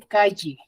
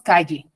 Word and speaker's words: calle: Por ejemplo, a nivel fonético, Lima, en Lima se dice calle, ¿cierto? ¿Han escuchado hablar los limeños o no? Dicen ellos calle, ¿cierto? Como si estuviese escrito con la Y. En provincia nosotros decimos calle, ¿cierto? Entonces suena como si estuviese escrita con doble L.